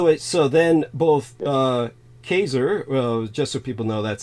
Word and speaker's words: Caesar: so then both uh kaser just so people know that's actually the correct pronunciation for Caesar it's more similar to Kaiser uh so but ker